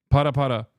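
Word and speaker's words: パラパラ: This time not twerking, but this time specifically pare pare. Is that how you say it? I'm putting Miskiff through another humiliation ritual, yes. Para para.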